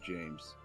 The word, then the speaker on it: James: the list I am James did you know your name rhymes with names I do is that